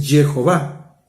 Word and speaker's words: Jehová: yo Jehová bueno es está demostrado que una pronunciación correcta es Jehová Pero bueno ese es